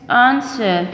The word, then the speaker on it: answer: badge dhd is silent answer w is silent here knuckle k cylinder now